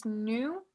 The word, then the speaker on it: knew: En el pasado es knew, otra vez se ignora la K y es supe en español.